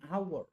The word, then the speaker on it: hour: begin with vowel sound example an apple an hour silent h is silent h is consonant but it's silence silent